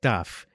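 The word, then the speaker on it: ταυ: And it's also funny that in modern Greek, the name of it is pronounced taf, but that's also the name of the letter tau in modern Hebrew.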